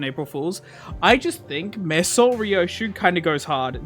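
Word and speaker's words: Meursault: I've been saying Mesol a lot lately because I've been in circles that are pronouncing his name correctly. I don't want to respect the French language!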